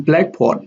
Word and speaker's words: blackboard: In blackboard, the primary stress is on black, and board here has a secondary stress.